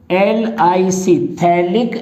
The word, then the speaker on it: phthalic: हो तो ऐसे स्ट्रक्चर को हम बोलते हैं थैलिक एसिड। ये नंबर डाल देता हूं यहां पर, ये 20 नंबर है और ये 21 है। इसे थैलिक एसिड बोलेंगे, PHTHALIC, थैलिक एसिड।